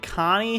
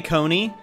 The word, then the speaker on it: Connie: it just me or did connie say her name was connie and eric immediately goes okay coney i pretty sure she oh holy water i'm pretty sure she just said her name was connie and you then go pronounce it coney the kid's crying at least say the name right geez eric gosh could